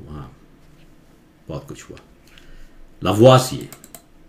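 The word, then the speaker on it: Lavoisier: Modern chemistry का father कहते हैं इसे, इसको उच्चारण करते हैं लावाजिए, फ्रेंच नेम है लावाजिए, उनका गर्दन काट दिया गया, ये कहानी शायद इसमें नहीं है लेकिन हो भी सकता है, ठीक है।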